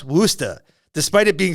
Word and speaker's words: Worcester: It's pronounced Worcester, despite it being spelled like this.